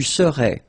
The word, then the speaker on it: serais: Remember, so AIS, but then you don't pronounce the final S. Je serai. Same rule here, no pronunciation of the final S. Tu serais.